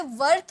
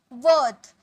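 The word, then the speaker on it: worth: यहाँ पे वर्थ मत बोलना, वर्थ। वर्थ, इसे आप सिर्फ इतना वर्थ, र मत बोलना, वर्थ।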